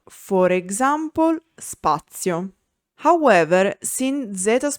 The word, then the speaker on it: spazio: When Z is unvoiced, it's called Z sorda. For example, spazio.